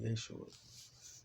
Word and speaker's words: Yeshua: Joshua to me is what they say, Yeshua. Because all you had to do is change the vowels, because the vowels was just pronunciation. The J was the Y.